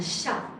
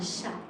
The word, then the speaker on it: chat: I said un chat. I did not say chat. I say un chat. So, it's a T. It's here when you write it, but you do not pronounce it.